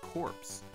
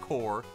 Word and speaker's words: Corps: known as the ff corpse and yeah i know i said corpse not core much like contra hard corpse i refuse to not pronounce that p and s and if you got